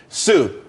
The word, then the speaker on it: TSU: there's more money and everyone could be happy Sue TSU it's pronounced Su though that's that's a website.